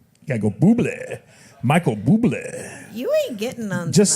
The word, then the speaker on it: Bublé: Michael Bublé. You ain't getting on. Just say Bublé. just say Bublé because it's fun. I did say Bublé. No, see, you said do it after- right. You gotta go Bublé.